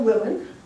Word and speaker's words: Wilen: here and um so my name is Willen okay and it's spelled w-i-l-e-n and then let's see which volume